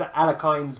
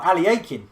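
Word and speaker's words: Alekhine: He's Alekine's bum, or Alekin's bum, depending on how you want to pronounce Alekin, or Aliakin, which is another way of pronouncing it.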